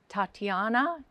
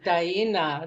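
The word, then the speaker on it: Tainna: literature for your book, Tatiana. Do you want to pronounce that? No, it's Daina.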